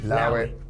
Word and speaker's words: allow it: Now, allow it, you actually pronounce it without the A, so you just say, allow it.